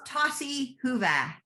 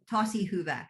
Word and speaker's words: tosi hyvä: In Finnish, it's tosi hyvä. Tosi hyvä.